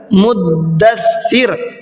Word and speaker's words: مدثر: آپ کہیے کہ جی یہ لفظ غلط ہے جو آپ بول رہے ہیں، یہ لفظ ہے اصل مدثر.